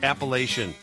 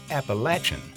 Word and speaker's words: Appalachian: So which is the right way to pronounce it? Oh man, it is definitely Appalachian. But it's also proudly pronounced Appalachian in the central and southern parts of the mountain range. How you pronounce it instantly identifies where you learned how to pronounce it, and both are correct.